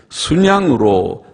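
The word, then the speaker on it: 숫양: 그래서 수에다가 시옷받침을 붙이고 발음은 순양, 그렇게 해야 표준말이라고 합니다.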